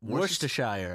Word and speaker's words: Worcestershire: mom was like what Worcestershire I don't know worst worst it's not said how it's spelled it's what she shared